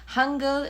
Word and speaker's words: Hangul: Again, Hangul is how you say the Korean alphabet.